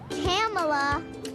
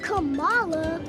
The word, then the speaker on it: Kamala: a politician of substance kamala it's not kamala it's not camella but she still had